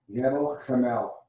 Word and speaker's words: Gebel Kamil: My Gebel Kamil, and yes, I'm saying that correctly. I've practiced. Gebel Kamil. Good job. That's amazing. Yeah, everyone says Gebel Kamil or Gebel, but it's Gebel Kamil.